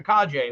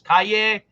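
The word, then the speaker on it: Calle: cavill is now gone now we have sasha kaje who's going to be our new by the way that's our name it's pronounced kaje i looked it up i did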